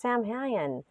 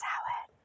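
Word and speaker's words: Samhain: whisper in my ear it's not sam han it's salad i was like whoa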